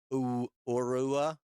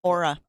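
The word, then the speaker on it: Oura: Unlike the and I never say it right, Ourua Aurora or Our Ra, Miss Victoria, aura. Aura. Oh, you Oh, like those those uh really earthy people or psychic people who see your aura. Spelled differently though. This is spelled O R A. That's not how you spell aura as in like the psychic stuff, right?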